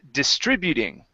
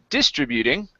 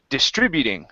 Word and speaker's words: distributing: This word is pronounced distributing. The stress is right here in the middle. Instead of distributing, okay, it's right here. Distributing.